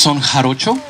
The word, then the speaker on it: Son Jarocho: I read that you had studied, is it Son Jarocho in Mexico? Yeah, it's pronounced Son Jarocho.